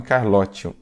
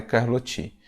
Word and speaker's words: Carlotti: Carlotti, mas pronunciamos o seu nome Carlotti. A pronúncia mais adequada é Carlotti.